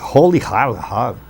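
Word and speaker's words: Rolihlahla: Nelson está completando hoje 95 anos, hospitalizado, e o nome de Nelson é até difícil a gente pronunciar aqui, é Holihar, que quer dizer pulador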